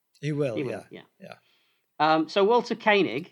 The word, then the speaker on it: Koenig: Sometimes I pronounce it Koenig, and sometimes I pronounce it Koenig. But let's go with Koenig.